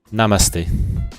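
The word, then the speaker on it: नमस्ते: How do you pronounce this? Namaste.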